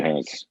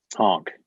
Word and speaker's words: Hank: Great question, Hank. Honk. It's pronounced honk. Okay. Like Frank.